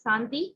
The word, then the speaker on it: Shanti: So Shanti, in Tamil it's Santi. So just, it's the same word, it's just sometimes the way that it's pronounced. So as Dr. said, the Sha sound is not there, so it's Sa, okay?